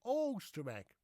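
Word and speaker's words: Oisterwijk: use the old ancient spelling Oosterwijk, which we pronounce as Oosterwijk.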